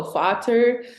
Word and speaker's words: Vater: Because they're F's over there, they pronounce them as V's. So Vater.